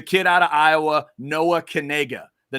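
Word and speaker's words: Knigge: no no it's not it's with that short e sound um and everybody has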